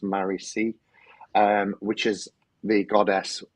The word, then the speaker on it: Marici: old Buddhist days teachings I'm sure that was how it's uh pronounced Murray c um which is the